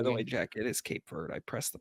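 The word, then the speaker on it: Cape Verde: It is Cape Ver. I pressed the pronunciation thing.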